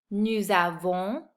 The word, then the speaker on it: nous avons: If you notice, I'm pronouncing the S at the end of these words because they're followed by a vowel. In French, we call that the liaison.